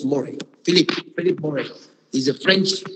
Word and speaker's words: Mouret: In 1987, Philip Moret, Mouret, we pronounce Moret.